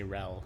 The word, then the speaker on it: RHEL: You just say RHEL, R-E-L. The H is silent.